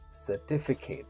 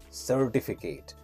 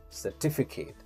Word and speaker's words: certificate: is on the second word t and the pronunciation should be certificate certificate certificate generally people pronounce it Incorrect and they say certificate they give stress on the first word but